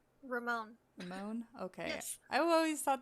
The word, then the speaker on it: Ramon: spelled r-a-m-o-n is it spelled or is it pronounced ramon or rahman it's ramon ramon okay i've always thought that ramon had